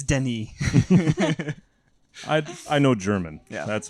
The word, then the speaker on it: Denis: to the point where I was like it's Denny I know German yeah that's about it and